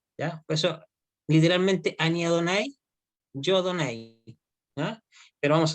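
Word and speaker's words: יהוה: ¿Y cómo se pronuncia Yud Hei Bat Hei? ¿Se acuerdan de la clase pasada? Ani, Ani Adonai.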